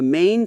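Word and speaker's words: 吗: It simply follows the main tone that comes before it. A very common example is the word ma, the question particle. It's never pronounced as a full tone. It stays light and short like a soft m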